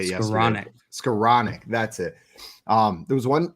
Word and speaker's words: Skowronek: Skowronek, that's it.